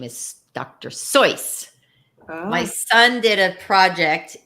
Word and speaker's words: Seuss: Dr Seuss and did you know the actual pronunciation of his name is Dr soyce my son did a project and sure enough